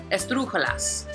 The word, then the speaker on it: esdrújula: Start with las palabras esdrújulas. Una palabra esdrújula is basically the word is going to have the accent on the third to the last syllable.